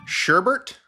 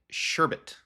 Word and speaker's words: sherbet: people enjoy is it sherbet or is it sherbet the answer is sherbet sherbet it is not sherbet sherbet rhymes with zerbert and if you don't